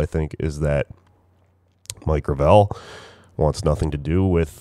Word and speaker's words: Gravel: By the way, the hashtag that they came up with is I thought it was Gravel Gang, but apparently it's pronounced Gravel.